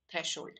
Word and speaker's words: threshold: So thresh plus hold makes threshold, or threshold. Actually, we pronounce it as threshold. So we just don't repeat the h.